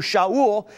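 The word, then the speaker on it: שאול: As a Roman citizen, Paul had both a Hebrew name that we call Saul, or it's pronounced in Hebrew, Shaul, and he had a Roman name, Paul.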